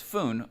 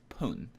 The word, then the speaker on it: 分: not always pronounced as food it is only pronounced as foon when it comes after the numbers 2 5